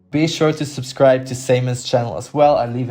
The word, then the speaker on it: Symon: It's SymonSCR. It's Simon. I do pronounce Simon always.